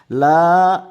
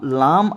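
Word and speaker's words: لا: লা এখানে একটু টান হবে। কেন টান হবে? এটি হচ্ছে লাম। লাম আলিফ লা লাম আলিফ লা একটু টান হবে লাম আলিফ জবার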